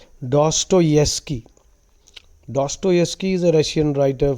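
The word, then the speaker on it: Dostoevsky: a chatter box okay doki's characters that's the pronunciation doeski the V is y the wi is silent doeski doeski is a Russian writer philosopher thinker many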